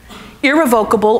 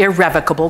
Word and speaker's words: irrevocable: and we do that we have certain words that we like to pronounce two different ways depending on where you know you learn to speak English so irrevocable irrevocable this is the one